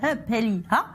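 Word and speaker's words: Up Helly Aa: Déguisés en guerriers vikings, ces Écossais célèbrent lors du festival Hupelliha, avec la prononciation, s'il vous plaît, l'histoire des vikings de la région, et ce depuis plus d'un siècle.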